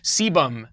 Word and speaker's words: sebum: extra sebum that's produced sebum not a lazy sailor sebum is what's secreted